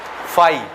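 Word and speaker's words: φ: इसको क्या पढ़ते हैं, फाई। क्या पढ़ते हैं, फाई। फाई क्या, फाई। समझ आया?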